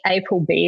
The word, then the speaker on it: APLB: personal favorites we have a brand called um aplb April B is how they say it in Korean but they have like